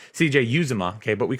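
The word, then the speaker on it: Uzomah: CJ Uzoma, okay, but we call him Who's Your Mama.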